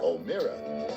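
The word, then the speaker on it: O'Meara: And Mike O'Mara, the name is spelled O-M-E-A-R-A, Mike O'Mara.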